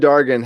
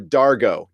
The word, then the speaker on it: Dargo: her saan saan and Dargan have a little talk dargah Dargan or Dargo Dargo sorry about Dargo why did I put in at the end there and it's yeah it's spelled like dr go they have a little